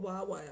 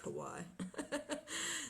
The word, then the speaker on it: Huawei: Well, people call it Huawei, I think. I think I'm pronouncing it wrong. I like Hawaii.